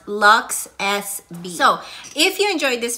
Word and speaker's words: LUXSB: but they've rebranded and they're pronounced luxe s b so if you enjoyed